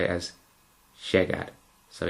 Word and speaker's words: llegar: Now, I've just made a mistake in saying that word. In fact, it's llegar. J. So, try putting your teeth together and making a j. Now, you're going to really want to pronounce it as sh, like that. Llegar. Llegar. And as you say the word, you want to take the sh down a level.